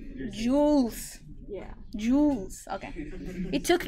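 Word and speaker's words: joule: parameters is thank you jules juice right that's how you say it jewels yeah jewels okay it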